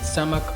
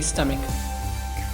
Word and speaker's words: stomach: I'm sure आप इसको गलत प्रोनाउंस करते होंगे, stomach और stomach, but it's actually stomach. It is a bit weird to pronounce ACH as ick, but that is how stomach is properly pronounced.